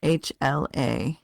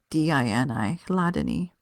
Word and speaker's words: Hladini: I just want to note right here that this word Hladini is spelled incorrectly. It's Hladini, Hladini.